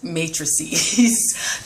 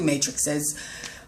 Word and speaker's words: matrices: like double the matrix matrices that's the you know the plural um it sounds weird but it that's the correct way to say it matrices um but yeah you'll get you'll get two matrixes ah matrices whatever um